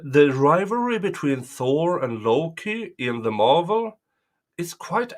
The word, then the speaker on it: Loki: It's pronounced with either a soft G or a soft K. So Loki in Sweden, Logi in Denmark.